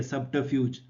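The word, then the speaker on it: subterfuge: इसकी प्रोनाउंसिएशन के लिए इस लिंक को ट्राई कर सकते हैं आप, बाकी प्रोनाउंसिएशन यही है, सब्टरफ्यूज, ठीक।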